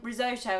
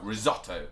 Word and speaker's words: risotto: I think the reason we think it's said like that is because of the double T, which shortens vowels. So you go risotto. Yeah. Whereas if it was one T, then it would be risotto.